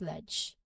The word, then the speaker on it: ledge: Similarly with ledge, the D is silent and the DG combination, and in the DG combination, so there's DG combination there, and it is pronounced as ledge. Again, it's that single J sound at the end.